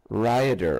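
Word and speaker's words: Rhayader: mid wales called rayada how do you spell that r h a y a d e r ryder okay right on and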